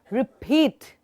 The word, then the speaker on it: repeat: And just remember, if the word has t in the end, for example, repeat, repeat. So you will expel some air out. For example, repeat. In the end of the word, I should be able to hear some explosion.